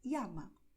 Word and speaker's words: llama: Hay regiones donde la tendencia es pronunciar llama como jeans y zonas donde es más común pronunciar llama como la letra I.